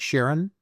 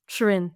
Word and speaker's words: Shirin: And am I pronouncing it right? Sharon? Shirin, yeah.